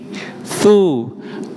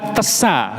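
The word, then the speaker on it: ث: fahaddit ini keliru giih jadi hurufnya tsa bukan tesa ngoten ngih Nggih.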